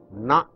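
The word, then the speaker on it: ண: This is called na, a retroflex noun. Na. Bend your tongue, take it up, touch the alveolar and pronounce it, retroflex na.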